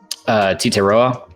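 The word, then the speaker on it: Tetairoa: Titeroa.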